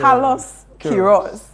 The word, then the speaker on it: Carlos Queiroz: It took me a while to pronounce his name. Yeah. Carlos Queiroz.